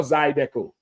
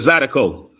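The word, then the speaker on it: zydeco: They gonna have, you know, the line dancing, the Zidico. Zidico or Zidco. You said it right the first time I said Zidico.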